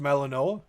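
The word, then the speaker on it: Malinois: Pronounced Melaninoa.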